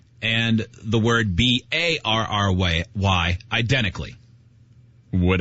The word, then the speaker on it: Berry: B A R R Y. Barry. And his last name is Barry like strawberry.